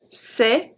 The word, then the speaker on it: c'est: C'est bien d'avoir. C'est bien d'avoir. So the C is a S sound. C'est. EST make the sound E.